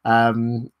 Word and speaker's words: aluminium: Aluminium, yeah. So you've spelt it aluminum, but clearly it's pronounced aluminium.